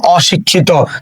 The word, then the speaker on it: অশিক্ষিত: তো শব্দের শুরুতে অ আছে এবং তারপরে রস্বইকার আছে, এটা নেগেটিভ শব্দ হওয়ার কারণে এই অটা আর পরিবর্তন হবে না। তাহলে এখানে আমরা লিখবো অ, তারপরে কি আছে, তালব্য শ রস্বইকার। দেখো এখানে ক্ষিয় আছে, আমরা জানি ক্ষিয় এর উচ্চারণ কি হয়ে যায়, ক্ষিয় উচ্চারণ কয় হসন্ত খ হয়ে যায় যদি শব্দের মাঝে অথবা শব্দের শেষে থাকে।